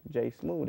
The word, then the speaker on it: J Smoove: you go J smooth how you spell that man it's JSM o o v e you know what I'm saying o e so don't type in th like a smoothie smooth smooth and the thing is